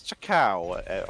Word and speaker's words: Chakao: Also, my mistake, it is Chakao on the Sylvanas. Pronounced it wrong.